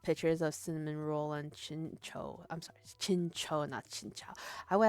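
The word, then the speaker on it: Chinchou: Twitch you know um so chincho if you ever hear me say chin ciao again that's my inner child coming out when I didn't know how to pronounce Japanese correctly so chincho that's a second gen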